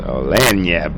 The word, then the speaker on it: Lagniappe: ask again somebody online, like, how do you pronounce this again? So Lagniappe, baby.